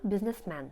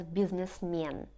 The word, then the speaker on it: businessman: А я businessman. By the way, just a funny fact that some people pronounce businessman as businessmen. You can hear that, but it's not very correct, as many people in